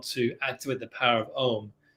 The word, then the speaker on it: Om: activate the power of ohm the syllable is actually two syllables so the o and the m have to have the same amount of time that you're